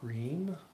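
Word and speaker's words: ह्रीं: do we're going to chant the seed syllable hen which if you were to spell it out in English would be something like H re e e m that's the sound we're making we're just going to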